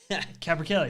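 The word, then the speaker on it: capercaillies: Capra Kellys. That's how you pronounce that.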